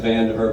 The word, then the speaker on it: Vandiver: My name's Vandiver, by the way. Spelled like vandiver.